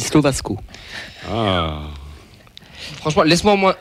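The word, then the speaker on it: Slovácko: Si je peux me permettre, à mon avis, ça se dit Slovasco.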